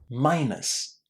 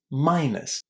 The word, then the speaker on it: minus: Minus. Minus. It's a really, really short ending.